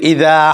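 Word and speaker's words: إذا: এই যে হার উচ্চারণটা আবার খেয়াল করুন, ওয়া মিন শাররি হাসিদিন ইদা হাসাদ। এই যে ইদা, জালটা একটু নরম হবে, হ্যাঁ, যেমন জিম, জিম শক্ত হবে, কিন্তু জাল যেমন জিম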